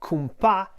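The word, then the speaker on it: cumpà: danced a Roomba now kumpa is a two-syllable word and the accent goes on the second syllable is the shirt version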